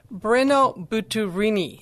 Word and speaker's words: Brenno Butturini: And his name is, let's see if I can get this right, Brenno Butturini.